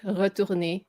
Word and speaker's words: retourner: Sac, her bag, zip, retourner, cabine. Retourner. Or don't try the R that hard.